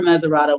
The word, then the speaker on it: Mesurado: Montserrado was, just a perversion of Meserado. So Meserado was the original name. So we still call the river Mesurado. We say Montserrado County because someone misspelled and mispronounced it.